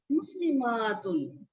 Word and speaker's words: مسلمات: مسلماتن۔ اس کو تھوڑا سا مطلب الف کو لمبا کر کے پڑھنا ہے، تلفظ میں تھوڑی سی چینج آتی ہے۔ مسلماتن مسلماتن، मुस्लिमातुन जमा बनाई, अलिफ ता लगाया, मुस्लिमातुन।